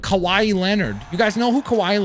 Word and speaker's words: Kawhi Leonard: It's Kawhi Leonard. That's how you say the name, okay?